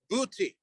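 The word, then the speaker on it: Buiti: was attacked by those known as the booty uh we can we can phonetically spell b-u-i-t-i uh these are the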